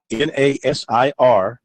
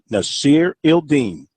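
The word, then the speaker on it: Nasirildeen: H-A-M-S-A-H, that's the first name, N-A-S-I-R-I-L-D-E-E-N, Nasir Ildeen. Give it 3 syllables, Nasir. Now give it 4 syllables, Nasir Ildeen.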